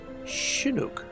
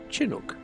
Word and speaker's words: Chinook: fortunately oh and and Andrew says it's pronounced shinuk isn't that was we said I probably said chinuk oh Tomatoes Tomatoes yes